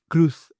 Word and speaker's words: Cruz: is the Miss Penelopey Cruz or Kruuth as she likes to say.